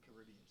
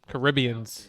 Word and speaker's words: Caribbean: So we can give honorable mentions to all of the Pirates of the Caribbeans because them shits was gas. Why did you Caribbeans.